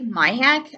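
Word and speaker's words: Maihack: Mike Myhack, I think his last name is pronounced.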